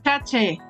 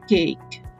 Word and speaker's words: ache: dé risa esta palabra no se dice es tomar el caché olvídense kate tomen y ahora lo